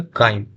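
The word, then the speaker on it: chyme: चाइम इसको नहीं पढ़िएगा, इसको क्या पढ़िएगा? काइम, ठीक है, तो यहाँ साइलेंट है, काइम, ठीक है, ठीक है ना।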